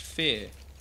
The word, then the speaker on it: phr: Oh you mean me PHR pronounced fear I like saying PHR